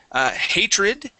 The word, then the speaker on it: hatred: Now, what you are doing is that you are pronouncing those D's like T sounds, saying het and hatred.